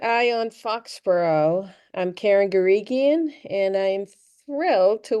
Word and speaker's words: Guregian: I always pronounce it Guregian, but Wrong. it's hard G's. Guregian.